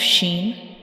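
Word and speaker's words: ش: When we pronounce sheen, we will touch the center of the tongue to the upper hard palate.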